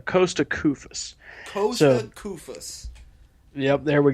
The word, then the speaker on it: Koufos: gonna kill me if I don't correct the pronunciation there it's Costa Koufos poza Koufos yep there we go I'm pronounced